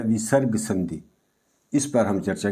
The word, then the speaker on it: विसर्ग: विसर्ग का उच्चारण जो होता है इस तरह से आधे ह के रूप में यानी कि स्वर रहित ह के रूप में होता है।